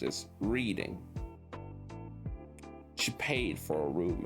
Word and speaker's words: Reading: They arrived in Reading, a city Devon kept mistakenly pronounced as Reading.